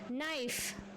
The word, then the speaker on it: knife: Knife. K silent.